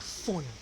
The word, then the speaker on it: phone: also have consonant diagraph like in the word phone the pH there P and H they make just one sound and that is fun they make the sound